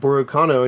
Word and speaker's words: Borukano: His name pronounced Borukano in Japanese is a play on the English word volcano.